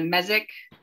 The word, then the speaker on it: mesic: So, Charlie, on one of your graphs, there was a mesic forest. It was M-E-S-I-C. Can you explain what that is? Yeah, and sometimes pronounced mesic as well.